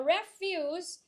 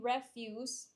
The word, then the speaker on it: refuse: a verb and then the stressing is in the first syllable if it's a noun so refuse refuse what